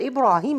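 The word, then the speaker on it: إبراهيم: you will find that this word ibrahim is written in the mushaf without alif and without yeah okay but we pronounce it like ibrahim so i have to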